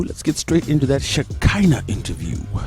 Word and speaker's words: Shekhinah: It's how it's pronounced. Shakina. Shakina. Shakina. Shakina. Not Shikina.